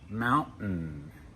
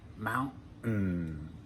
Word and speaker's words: mountain: Mountain, fountain. Notice that when we pronounce those words in American English, for most of us, we don't pronounce the T. It's a stop. Mountain, fountain.